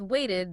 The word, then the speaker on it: waited: And with waited, the E is pronounced eed. Because wait ends in a T sound, we need that extra syllable to make the past tense clear.